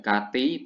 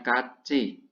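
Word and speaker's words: 같이: Kachi, ya, Kati bacanya Kachi. Bajim tiot seperti ini ketemu vokal i, ya, dibaca c, Kachi.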